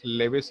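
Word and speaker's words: Lewis: इस स्ट्रक्चर के रिप्रेजेंटेशन को हम लोग नॉर्मली लेविस स्ट्रक्चर या लुईस स्ट्रक्चर बोल सकते हैं। जो प्रोनाउंसिएशन करना है कर सकते हैं, लेविस स्ट्रक्चर बोलो, लुईस स्ट्रक्चर बोलो, तुम्हारी मर्जी है, कोई दिक्कत नहीं।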